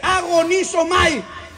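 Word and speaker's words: ἀγωνίζομαι: En el griego del Nuevo Testamento, que se escribe en griego, la palabra esforzado significa, o se lee agonizomai, significa un esfuerzo a muerte.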